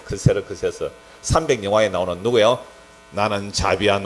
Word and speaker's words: 크세르크세스: 에스더스에 나오는 그 아하수에르가 그 발음 그대로 하면 크세르크세스래. 크세르크세스.